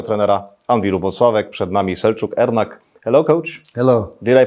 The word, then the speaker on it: Selcuk Ernak: Przed nami Selcuk, Ernak. Hello, coach. Hello. Did I pronounce it well in Turkish?